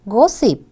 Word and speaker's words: gossip: Yes, the word is gossip. It's an uncountable noun. There are two syllables and stress is number 1.